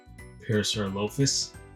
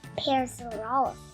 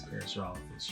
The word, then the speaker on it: Parasaurolophus: And Dad, I kept getting his name wrong. What was I calling him? Parasaurolophus. And it's Parasaurolophus. It is Parasaurolophus.